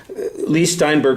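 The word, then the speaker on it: Leigh Steinberg: Lee Steinberg, by the way, that's how you say his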